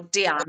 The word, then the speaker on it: Diane: But um Diane von Fürstenberg, so or Diane as she pronounces it.